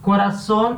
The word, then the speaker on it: corazón: nós temos tu corazón corazón é coração palavra aguda porque a sílaba tônica é a última e termina com ele